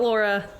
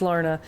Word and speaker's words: Lorna: I know it's not Laura, it's Lorna. And are you asking me how I got the name?